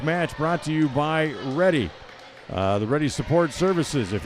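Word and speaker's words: Redi: Tonight's match brought to you by Ready.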